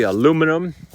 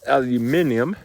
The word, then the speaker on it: aluminium: it's a called tenus I say aluminum it's actually pronounced aluminium and I still don't